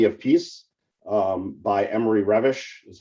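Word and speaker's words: Reves: Peace um by Emory revish is how it's pronounced although in English it looks like Reeves uh which talked about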